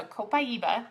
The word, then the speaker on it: Copaiba: So Copaiba is how we pronounce that.